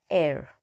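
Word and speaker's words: heir: i r so now here H is silent so a air all right so now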